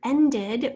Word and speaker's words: ended: If we have the word ended, what's the base word? End, E-N-D, end. Sound of the ending is ed, ended, ed. That's that schwa sound.